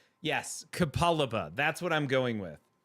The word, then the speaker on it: Capalaba: Uh, Kapaliba. Yes, Kapaliba. That's what I'm going with. Uh, Kapal Capal Capalabar. There's no R at the end.